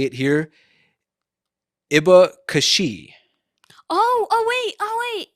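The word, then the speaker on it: abacaxi: i remember correctly i think it's pronounced something more like a a bakashi probably something like that okay okay um and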